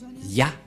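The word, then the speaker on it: יה: Qu'on ne doit pas changer, car dès que vous voyez les formes Yod et He, vous le prononcez directement Ya.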